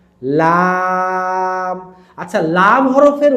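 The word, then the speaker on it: لام: আপনার জিহবাটা কিন্তু সামনের উপরের দাঁতের মাড়িতে লাগবে। এভাবে লাম লাম।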